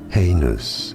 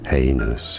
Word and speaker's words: heinous: Heinous. Heinous is how you say it. Heinous. Heinous. Both British and American pronunciations are similar here, so it's easy.